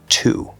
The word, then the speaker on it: to: And we're going to say the oo sound, spelled with an O, but it's oo.